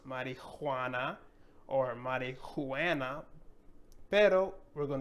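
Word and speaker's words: marihuana: But we have to make that connection in our brain that this is silent and that we have to say this all together. So marijuana. No, it's marijuana or marijuana, pero we're going to say marijuana, marijuana.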